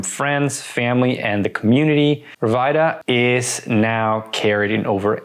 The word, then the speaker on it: Rviita: Yeah, so it's pronounced Rviita, which is short for Revitalize, but a lot of people also call it Rviita, Rviita, and you know what?